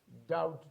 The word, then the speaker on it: doubt: Here we have to keep in our mind, although the spelling, in the spelling we have B, B, B, B, still this letter remains silent when we pronounce these words.